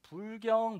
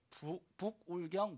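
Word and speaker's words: 부울경: 이 발음을 잘 압니다 불경 모임이 아니라 북구 을 경보 2 빨리하면 불경 선임들이 모이는 모임이 아니라 북 울 경 모임 이렇게 모입니다 어이 모임에서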